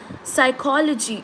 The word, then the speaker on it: psychology: n t is silent psychology right p is silent one right yeah g